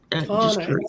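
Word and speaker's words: Tauna: Tana. T-A-U-N-A. Tana. Yeah, Tana is how, because of how it's spelled, but you know, some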